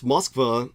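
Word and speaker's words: Москва: By the way, someone was asking me why I pronounce Moskva, the capital of Russia, in the Russian, but I don't do that with St.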